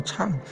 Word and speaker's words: 唱: 唱，不是藏哦。因为有的法师念作藏，所以现在订正啊，正华演唱读作唱。